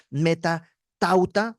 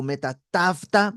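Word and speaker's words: μετὰ ταῦτα: frase después de estas en griego es Met tauta o Met tafta dependiendo de como te enseñaron a pronunciar el griego pero esta frase Met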